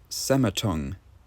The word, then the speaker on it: Sematung: Sematung, as in cemetery and tongue, because it has a